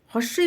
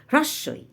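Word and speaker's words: হ্রস্ব ই: সবসময় হ্রস ই বলবো তা থেকে আমরা বলি হস্ কিন্তু হস্ নয় হ্রস্বই তারপরেরটি কি দীর্ঘ ই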